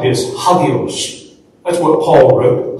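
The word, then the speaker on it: ἅγιος: It's pronounced like this, hagios. That's what Paul wrote, hagios.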